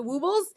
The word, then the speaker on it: Woobles: Woobles. Just that's how you say it. Woobles. Yeah, woobles. Like they'll wobble, but they won't fall down.